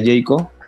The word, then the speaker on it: Heiko: cree ese disco pero éste se pronuncia jeyko entonces todas las cuentas